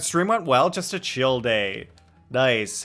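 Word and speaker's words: Childe: That is how you pronounce Tartaglia's nickname. It's Chill Day.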